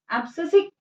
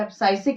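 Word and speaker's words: abscisic: एब्सिसिक acid या एब्साइसिक acid, कुछ भी प्रोनाउंस करिए आप, जिसे हम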